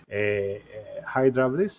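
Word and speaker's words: ὕδραυλις: The first one is the church organs, and the second one is an ancient organ, the Hydraulis, as we pronounce it in Greek, which is the ancestor of the church organ.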